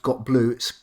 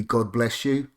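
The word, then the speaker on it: gotbletu: And actually, after many years of thinking it's pronounced Got Blue, it's actually supposed to be God Bless You.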